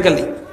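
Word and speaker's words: قُلْ: কোরআন সহি করে নাই, অনেকে কফ উচ্চারণ পারে না, সে কুল হু আল্লাহু আহাদ পড়তে পারে না, সে পড়ে কুল হু আল্লাহু আহাদ। কফকে কাফ দিয়ে পড়ে, কি দিয়া?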